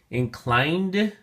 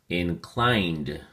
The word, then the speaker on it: inclined: look at your flashcard inclined has two syllables and the emphasis or stress is on the second syllable climbed and make sure you enunciate that last and final on that final d sound so we say inclined